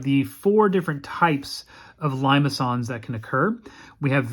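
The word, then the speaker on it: limaçon: are what we call limons notice the c has this little tail there so it's limons is how we pronounce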